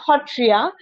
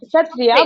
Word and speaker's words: Sattriya: another thing uh in in traditional smes way we we pronounce it as hotria not satsia but we write it as it's written as satria sat but when we uh pronounce it traditionally it's hotria so uh yeah so